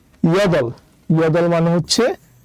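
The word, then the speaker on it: 여덟: তাই আমরা নিলাম এই দ্বিগুতের দ, আর নিচে শুধু রিউল, রিউল নিচে বসলে ল হবে, তাই নিলাম ল। তাহলে উচ্চারণ হবে ইয়দল, ইয়দল মানে হচ্ছে 8।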